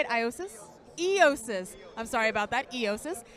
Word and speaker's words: Eiosis: Eiosis.